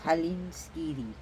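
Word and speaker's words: Hallinskíði: n s k i d i but it's pronounced Halen ski again a soft D like a d the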